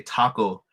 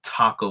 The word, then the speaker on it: taco: so like when you the proper way to say Taco isn't Taco with a t sound it's taco taco or uh to have